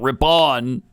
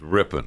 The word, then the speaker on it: Ripon: Ripon Ripon Wisconsin right rippen ripping RI not Ripon RI pronounced ripping according to according to one of our listeners